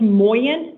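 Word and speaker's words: Mawyin: It's pronounced Moyen.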